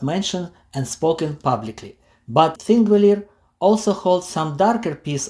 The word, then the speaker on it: Þingvellir: The name Þingvellir, pronounced roughly Thingvellir, means Parliament Plains.